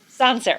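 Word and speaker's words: Sancerre: to thank Chris and I've been saying it wrong the entire morning it's sanser sanser okay so we're going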